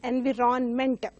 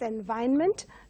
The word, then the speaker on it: environment: They pronounce it as environment, but it has to be pronounced as environment, where R is silent.